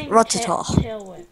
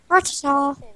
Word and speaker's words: Rattata: Rattata. Rattata.